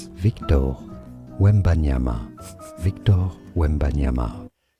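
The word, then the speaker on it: Wembanyama: Three syllables. We ban yama. We That's Victor. We wyama. Victor Wimbeanyama.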